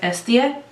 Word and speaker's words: Hestia: first shade which is Hestia it is just a bone shade according to google the way the the Greeks spell it they don't pronounce the H so it's s da it says that this